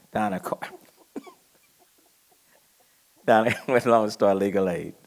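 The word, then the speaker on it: Dana: it's spelled d-a-n-a um i think her parents kind of misspelled it but the pronunciation is donna donna darling with long-star legal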